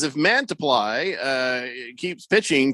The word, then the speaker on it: Mantiply: Is it Mantiply or Mantiply? It's Mantiply. Mantiply. Mantiply. That's what I said. Mantiply. You said Mantiply. You've got the emphasis on the wrong syllable.